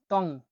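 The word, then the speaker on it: tong: পরবর্তী শব্দটি হলো এনজি, এনজি কে ইয় হিসেবে উচ্চারণ করে থাকে, ইয়, বাংলা অক্ষর ইয়র মতো, উঁর মতো উচ্চারণ হয়ে থাকে। আমি উদাহরণ আপনাকে দেখাচ্ছি, টং, টং, ত আর উ, টং, টং মানে হলো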